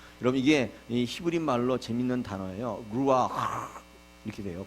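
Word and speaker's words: רוח: 강해 설 습니다 여러분 이게 히브리말로 재밌는 단어예요 루아 이렇게 돼요 발음이 가르침 발음이에요 한번 해보시겠어요 루네 가르침을 좀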